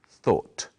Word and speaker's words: thought: of think is thought it's spelled in a strange way but it's easy to say thought try saying we thought